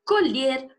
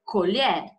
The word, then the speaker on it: colher: está na hora de colher a safra eu gosto de brigadeiro de colher certo Então olha grafia Idêntica na hora de falar não colher e colher certo no caso das